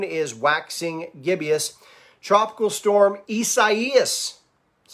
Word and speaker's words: Isaias: Tropical storm Isaias, that's how you say it, track near the east coast of Florida through this weekend, Saturday and Sunday.